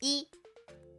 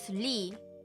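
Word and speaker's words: 이: Ah yes e not his lee. But the surn name in Korea is e right. You don't sound you don't pronounce air sound.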